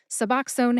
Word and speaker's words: Suboxone: Suboxone has three syllables. sub like substitute, ox like the animal ox, and own as in I own my microphone that I'm talking into right now.